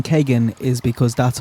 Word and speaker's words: Kegan: it's kagan it's kagan the reason i'm saying kagan is because that's how his father pronounced it i used to say keegan the way it's spelt is keegan to also